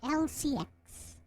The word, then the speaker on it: Elle-C X: So it's spelled that way, E-L-L-E dash C space X, but it's pronounced as Elle-C X.